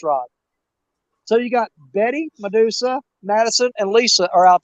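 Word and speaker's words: Mudussa: That's spelled M-U-D-U-S-S-A, Medusa. Like mud.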